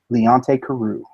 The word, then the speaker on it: Leonte Carroo: wide receiver from Rutgers how do you pronounce his name Leonte Carroo that's what I figured I've heard it pronounced